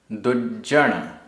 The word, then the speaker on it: दुज्जन: दुज्जन, दुज्जन आधा जा पूरा जा, दुज्जन।